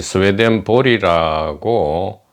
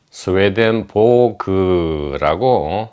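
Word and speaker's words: Swedenborg: 어 스웨덴 보그를 이전까지 스웨덴 볼리라고 어 이름 불렀는데 우리 이라도님이 탐색한 결과에 의하면 스웨덴 보그라고 어 발음하는 것이 좋겠다.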